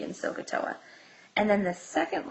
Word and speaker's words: SOHCAHTOA: So we have a nice little memory trick down here, which I call SOHCAHTOA.